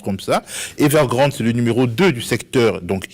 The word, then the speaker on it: Evergrande: et la firme evergrande c'est pas ça se prononce comme ça evergrande numéro deux du secteur donc immobilier dans le